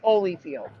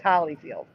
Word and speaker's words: Holyfield: Vanda hollyfield but again never pronounced Holly always Holyfield question two yep here